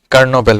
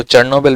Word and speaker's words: Chernobyl: है वो कर्नोबेल वायरस, इसको चर्नोबेल भी कहते हैं, कर्नोबेल भी वायरस कहते हैं। ठीक है, इसके स्पेल भी दो तरह के हैं, ये देखिए नीचे स्पेलिंग है CHERNOBYL, ऊपर BAL है, तो ये दोनों तरह से इसको प्रोनाउंस किया जाता है और लिखा जा सकता है।